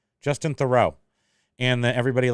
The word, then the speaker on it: Theroux: Justin Theroux.